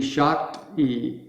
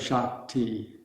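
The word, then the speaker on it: शक्ति: but there's a difference so it would be shocked e instead of shock t so the in english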